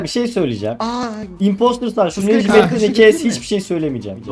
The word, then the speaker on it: Necmettin: Ya Necmettin ne abi? Necmettin lütfen. İsmimi doğru telaffuz edin.